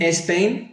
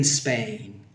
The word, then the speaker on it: Spain: Made in Spain, no. Made in Spain.